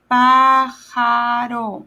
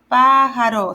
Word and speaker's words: pájaro: Pájaro. See how it's the pa is a little longer on the A, the first A?